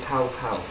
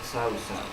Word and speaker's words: Cao Cao: Well, they pronounce it in the game Cow Cow, but the actual Chinese thing is Sao Sao.